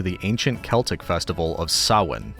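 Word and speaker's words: Samhain: Halloween primarily traces back to the ancient Celtic festival of Sin. And I'll put the spelling of this on the screen because the spelling looks nothing like the pronunciation.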